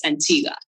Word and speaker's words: Antigua: are now living in Antigua is that it is that what you said Antiga y Antiga oh I'm sorry I you're not supposed to pronounce the U I guess Ain there